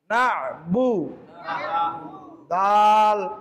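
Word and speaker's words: نعبد: আইন আইন জবর না আইনটাকে কন্ঠে লিখে চাপ দিয়ে উচ্চারণ করতে হবে না বা পেশ বু পেশ বুবু না বু দাল পেশ দু পেশ নাবুদু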